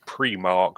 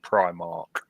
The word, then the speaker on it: Primark: It's Premark, not Primark, even though it's clearly spelled Primark.